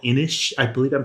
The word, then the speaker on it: Inis: really famous game called inish I believe I'm pronouncing it right I N I S okay yeah um I've been told is pronounced inish uh it's a Celtic word or something but uh so itic